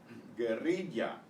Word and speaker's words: guerrilla: Guerrilla, guerrilla, another trilled R, guerrilla.